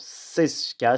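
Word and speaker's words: Czeschka: Alors Sesca, ça s'écrit C-Z-E-S-C-H-K-A.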